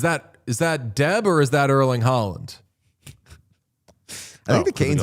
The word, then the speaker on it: Erling Haaland: It's like Holland, like a little. Breathier. It's like the vowels are a little more like rounded, maybe.